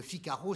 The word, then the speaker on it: Figaro: prend son père et comment prononce pas le s on dit le figaro donc le figaro c'est le figaro c'est